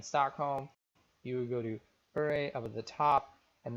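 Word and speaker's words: Åre: To get some winters, there's a town called Ure, which is spelled like R, A-R-E, but it has an accent over the A.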